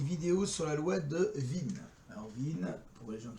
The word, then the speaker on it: Wien: Bonjour, alors aujourd'hui une vidéo sur la loi de Wien. Alors Wien, pour les gens qui parlent allemand, W-I-E, et ceux qui ne parlent pas allemand non plus. Mais bon, ça se prononce Wien.